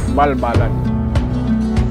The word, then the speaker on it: Balbalan: l ganag so it came out to be pronounced balbalan napianchatong siun elinchi kaanusan on gimpong sa wigang pilipino pamayanan ng pinakamapayapang mga katutubo o indigenous people.